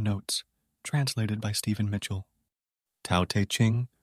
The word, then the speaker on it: Tao Te Ching: translated by Stephen Mitchell Tau Te Ching pronounced more or less Dao de Jing can be translated as